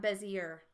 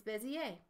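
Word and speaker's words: Bézier: using the Bezier tool it's French that's why it has an e a at the sound at the end and it's not Bezier it's busy a it's also called the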